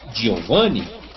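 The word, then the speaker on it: Giovanni: É escrito com G, mas você vai pronunciar Giovani.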